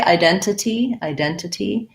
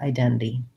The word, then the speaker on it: identity: So it sounds like the diphthong I, just like when I say I know or I have, and then a lax I, and then D. So identity, second syllable stress. I can say identity, but Americans will more often leave that middle NT out, the T part, identity.